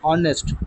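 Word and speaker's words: honest: रहा है honour our ऑनेस्ट तो यहां पर एच का आवाज साउंड जो है वो साइलेंट है उसका आवाज जो है साइलेंट है एच अपना साउंड प्रोड्यूस नहीं कर रहा एच जस्ट लगा हुआ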